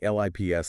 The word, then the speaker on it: LIPS: It's called late EPS and that's pronounced like, well, you're a lip. Exactly. Lips, like lips.